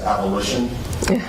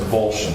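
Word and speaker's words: avolition: Some attorney may accidentally pronounce that as abolition. Yeah. Okay. But it's pronounced abulion.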